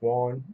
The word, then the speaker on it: yuan: I believe it's pronounced yuan, the Y-U-A-N.